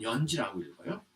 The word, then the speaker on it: 연지: 그래서 아마 연지라고 흉노에서는 발음했을 텐데 물론 요새 발음은 연지하고 똑같은지 어떤지는 모르죠. 연지라고 발음을 했을 텐데 한자를 적다 보니까 이제 이렇게 알씨라고 적으니까 이게 연지라고 읽는다 이렇게 이제 된 겁니다. 그러니까 이건 연지라고 읽어요.